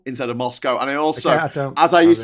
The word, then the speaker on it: Moscow: I hate Moscow instead of Moscow.